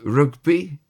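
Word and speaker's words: rygbi: Rugby is rugby. R Y GBI, we heard that before once.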